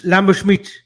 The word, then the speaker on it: Lamberschmidt: Yeah, he's German. No, not Smith. It's Lamberschmidt.